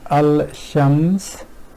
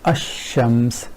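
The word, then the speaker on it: الشمس: they do is here rather than saying al-shams this which is a bit hard on tongue they ignore that and pronounce this ashams which is much more fluent way of pronouncing this word so ignoring this in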